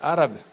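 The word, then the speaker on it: עורב: traerle de comer pero la palabra Cuervo su pronunciación en hebreo es arab es lo que curioso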